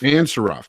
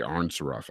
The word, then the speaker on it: Ansaroff: Nina Ansaroff. Ansaroff. That's right. I was going to say Arnsaroff.